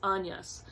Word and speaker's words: Agnes: and in the book her name is pronounced Agnes.